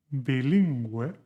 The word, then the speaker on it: bilingüe: 7. Bilingüe, suena como Gales.